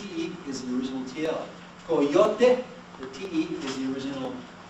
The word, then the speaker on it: coyote: Last syllable, stress goes here. Any volunteers? Coyote. Coyote. Everyone, coyote? Coyote. Do not ever say coyote.